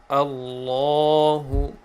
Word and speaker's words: Allah: on it is that the word of Allah always pronounced heavily with full mouth a law in a law sorry